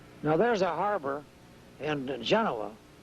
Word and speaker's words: Genoa: When we were in high school, we pronounced it Genoa, but I guess that Genoa is the correct pronunciation nowadays.